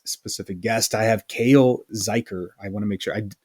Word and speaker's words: Zuiker: I have Cale Zuiker. I want to make sure. Normally I ask before we start. Did I say that right? That was correct. It rhymes with biker.